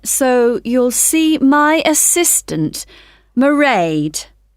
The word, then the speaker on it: Mairéad: I won't be working then, so you'll see my assistant, Mairéad. Sorry, how do you spell that? It's M A I R E A D. Mairéad.